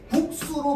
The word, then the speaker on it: 국수: 기억, 비읍, 받침 뒤에 된소리를 표기하지 않는 규정이므로 국수로 발음되는 국수나 몹시로 발음되는 몹시는 전부 뭘로?